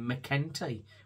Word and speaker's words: McEntee: I've been calling McEntee, but it's McEntee is the correct pronunciation.